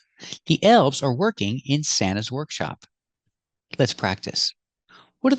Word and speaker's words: Santa: workshop and this is Santa's Workshop we see the pronunciation of Santa when you have NT between vowels you don't hear the T you hear Santa Santa this is Santa's workshop